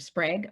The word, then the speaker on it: Sprague: one and only Sprague. Rhymes with egg, that you know how to pronounce it, and so do I.